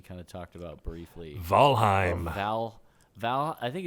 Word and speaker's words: Valheim: I mean, anytime EI is in a word that's not from the English language, it's pronounced I'm. Heim. So Valheim.